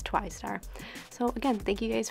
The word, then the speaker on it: TWI_STAR: You can follow me on Snapchat at @twy_star. That's actually how you say my name. It's Twy Star. I know some people have said it Twister, but it's Twy Star.